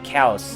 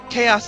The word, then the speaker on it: Chaos: been pronouncing the name cows and not chaos because it sounds like you would say chaos with that pronunciation chaos is English Kaus is Greek ah okay now that